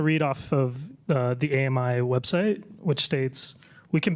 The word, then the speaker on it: AMI: So, it's called It's pronounced AMI. AMI. AMI, sorry. Uh it's a French company. I mean, it's a global company, but the headquarters are in France, and so we pronounce it the French way.